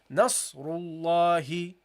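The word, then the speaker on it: نصر الله: But what do? We prolong it. Okay, we intend it here and we pronounce it here. So we say here Nasrullahi, Nasrullahi, إذا جاء Nasrullahi. Okay, that's how you should read it, guys.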